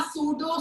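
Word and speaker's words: pseudo: Super cooled liquid या सूडो solid. P यहाँ पे साइलेंट है।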